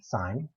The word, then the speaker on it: sin: or write it down we typically just say s-i-n but we pronounce that sign there's a co sign